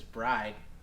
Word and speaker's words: Bride: bride seat i mean technically speaking yeah it's pronounced bread but everyone says bride i guess you're going